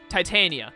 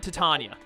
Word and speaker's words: Titania: It's pronounced like the word titanium. So, Titania, not Titania.